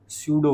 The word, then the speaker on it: pseudo: This corrective force is called सूडो force. This corrective force is called सूडो force. ठीक है? Spelling भी सूडो है। एस बोल के पी से शुरू हो रही है।